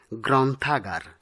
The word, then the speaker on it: গ্রন্থাগার: এখানে অনেকেই আমরা উচ্চারণ করে থাকি গ্রন্থাগার, কিন্তু সঠিক উচ্চারণ হবে গ্রন্থাগার, ব্যাকরণসম্মতভাবে গ্রন্থাগার। পরেরটি একই নিয়মে গ্রন্থ, আরেকটি হল গ্রহ, গ্রহ নয় গ্রহ, সঠিক উচ্চারণ।